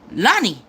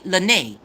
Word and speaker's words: Lynnae: he kept talking about lonnie but my son was pronouncing her name wrong it's actually lynnae it's not lonnie so i'm like lonnie